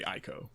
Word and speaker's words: ICO: already it's one of the greats it's not eco though it's not eco well it's not eco because it's really ICO correct no iko iko like the song no